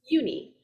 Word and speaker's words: Uni: And just a reminder for name pronunciations, Tara is pronounced Tara, Mara is Mara, and Uni is Uni.